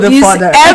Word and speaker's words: fodder: Now, when you hear of a fodder, some people say fodder, some say fodder. But whatever you call it, is FODDER. And I think it's supposed to be pronounced fodder. Now, there are stalks, there